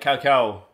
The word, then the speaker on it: cacao: a deca as well like cacao he was pronouncing it that way Kendall Oh Cal like cow okay not really a